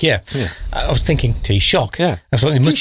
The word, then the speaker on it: Taoiseach: But I think reflecting on what the forgive my pronunciation. Taoiseach, yeah. I was thinking Taoiseach.